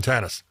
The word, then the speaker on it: Tenace: just teamed up with how do you say this Gene Tenace changing tennis tennis okay team double Jim she